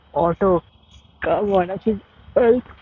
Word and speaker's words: Aalto: He's pronounced Otto. Come on, I think Alto for so long. The I don't get how he's pronounced Otto. Must be some kind of localization.